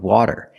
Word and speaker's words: water: When we say water, we don't even say T, we say R, like water, water.